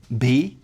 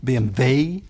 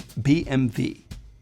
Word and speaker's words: BMW: The Germans pronounce it BMW. You can see it's like a V sound, but slightly different than in English. BMW. It's not BMW or BMW, it's BMW. And now we go back to Stuttgart again, to Mercedes-Benz.